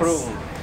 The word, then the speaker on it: Prung: Prung.